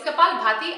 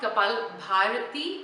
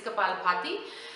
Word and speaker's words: kapalabhati: note about the Cabal party okay now it's kapalabhati I hear people mispronouncing it all the time it's not couple entirety it's kapalabhati and that is considered an advanced pranayama now